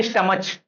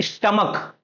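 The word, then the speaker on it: stomach: अब हम ये तो नहीं बोलते स्टमच, स्टमच तो एक गलत वे हो गया प्रोनाउंस करने का, प्रोनाउंसिएशन करने का। ठीक, तो हम लोग इसको क्या बोलते हैं, स्टमक, क स्टमक, मोनार्क।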